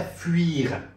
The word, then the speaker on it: fuir: پس تلفظ چی میشه؟ fuir، s'enfuir.